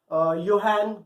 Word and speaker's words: Johann: इसकी जगह पे एक जर्मन मर्चेंट के बेटे थे, योहान गटेनबर्ग. आपकी बुक में JOHANN है. जोहान आप लोग पढ़ेंगे बट इट इज not like that. इसकी प्रोनाउंसिएशन योहान गटेनबर्ग है.